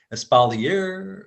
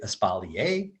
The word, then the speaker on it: espalier: either you could say espalier or you could say espalier you know that's the pretentious french pronunciation espalier or you could say espalier and that's fine too